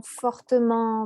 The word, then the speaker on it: fortement: T, par exemple, lentement, fortement, doucement, etc., il y a des personnes qui vont avoir envie de prononcer le -t à la fin qui est muet et donc doucement, fortement, etc.